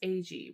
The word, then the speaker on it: Agee: Now, what they did here is James Agee, which I learned in the very beginning that is how you pronounce his name.